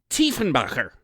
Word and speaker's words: Diefenbaker: the Hinterlands of Bavaria Dean Baker's German immigrant grandfather probably would have pronounced it Tien Baker and that's an aspect